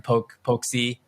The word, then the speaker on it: POLC: You earn POLC or the POLC token to make it easy within the game.